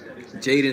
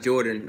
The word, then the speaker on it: Jadon: Jadon Sancho. I was told that it's not Jordan. I didn't mean to pronounce it like that, but it's Jadon Sancho.